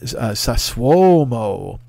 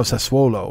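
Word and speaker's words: Sassuolo: is he goes there's a team called uh sasuomo and i'm like what he goes no sasuolo and i was like oh sasuolo uh he didn't say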